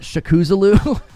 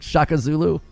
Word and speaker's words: Shaka Zulu: What was the one guy that I said, Shakuzulu? Instead of like Shaka Zulu.